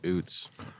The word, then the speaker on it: Utz: It is Oots. Yeah, Oots is owned by, I think it's the Diocese of New York City. Uts. Turn that crap off. They're saying it's Uts. It's Oots. It's Oots.